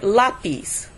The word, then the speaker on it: lápiz: Okay, so this is why we're putting the stress on the dad, because it's the last syllable. Now let's take a look at the word lápiz, which is pencil.